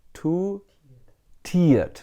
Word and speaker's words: two-tiered: Too tiered, not tired. Tired means sleepy.